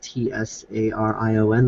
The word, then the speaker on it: Tsarion: of Michael um Syrian I think you pronounce his name as TSA r io n michael Tsarion November 23rd 2014 and